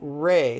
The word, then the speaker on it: re: and the vowels are very much like espanol r e would sound like rey like a ray of sunlight or a ray gun or a death ray so let's touch the